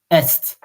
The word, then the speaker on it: est: And in that case, you pronounced it est. Because there is e. E-S-T is e.